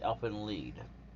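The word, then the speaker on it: Elfen Lied: start that right there elf lead that's how you say it you almost been down when you first put it up you always you might want to say i help and lied because literally that is how it is spelled but no that's not it it's elfin lead it would technically think it would be l-e-a-d but no of course not it's gonna be l.i.e.d like they lied for whatever reason and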